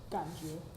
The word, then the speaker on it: 感觉: So how do you pronounce feeling? 感觉。